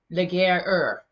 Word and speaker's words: Laguerre: By the way, IFBB Pro Corey Curtis says the correct pronunciation, or his understanding of Theo's name, is Laguerre. Laguerre. So not like Valier. Laguerre. Oh, it's rough. Laguerre, like the Laguerre.